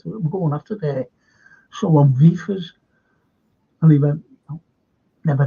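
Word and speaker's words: Wirtz: It begins with a W, but you always pronounce it with a V. And it's V-Fizz.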